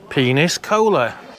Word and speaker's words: Peñíscola: Peniscola.